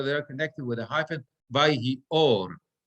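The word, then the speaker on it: וַיְהִי אוֹר: Vayomer Elohim yehi or, vayhi or. Right? Again, 2 words over there connected with a hyphen. Vayhi or, and the meteg is under the aleph. Vayhi or. This is where my accent goes.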